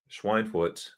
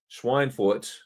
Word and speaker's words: Schweinfurt: Schweinfurt. I'm trying, York. I'm trying to say it right. Schweinfurt, not pig.